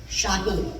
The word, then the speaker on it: Shaheen: So she comes, picks me up, and she calls me Shaheen, which is technically the way my name is pronounced, Shaheen.